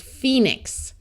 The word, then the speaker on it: Phoenix: a long e sound pH says F so this is Phoenix this B is silent